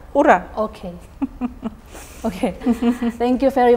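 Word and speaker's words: ура: The right pronunciation. I mean. Ura. Ura. Ura.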